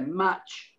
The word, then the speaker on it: match: Match, now you might be a little bit of an emphasis on the T here, match, because you are putting the T slightly before the CH sound, match.